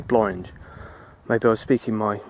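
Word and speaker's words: Blorenge: I got absolutely slated for pronouncing it Blorange when it is apparently Blorange.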